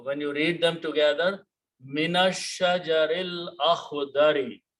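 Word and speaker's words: مِنَ الشَّجَرِ الْأَخْضَرِ: So when you read them together, minash shajaril akhdari. You don't pronounce this alif again.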